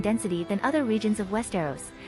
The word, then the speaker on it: Westeros: According to the TV series official pronunciation guide developed for the cast and crew, Westeros is pronounced Westeros, as opposed to Westeros, etc.